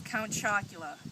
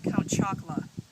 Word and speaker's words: Count Chocula: say it growing up my favorite cereal was count chocula and I remember my older brother making fun of me because I always called it count chocolate even with a degree